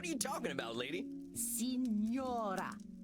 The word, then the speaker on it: Signora: Signora. 3 syllables.